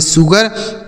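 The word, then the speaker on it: sugar: अगला शब्द है दोस्तों एस यू जी ए आर एस से हो जाता है स यू का उच्चारण छोटा उ जी ए से ग हो जाता है आर से र इसे पढ़ेंगे शुगर मतलब क्या होता है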